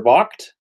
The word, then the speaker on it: Vogt: Vogt. I think is how you pronounce it. No, Vogt. V-O-G-T.